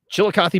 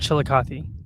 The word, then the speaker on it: Chillicothe: Apparently, such a funny word, Chillicothe. I think that's how you pronounce it. That's how I've heard it pronounced. So Chillicothe.